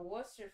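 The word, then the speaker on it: Worcestershire: cup of wash of Worcester sauce I never know how to pronounce it it has way more letters in it than you actually pronounce um but I'm just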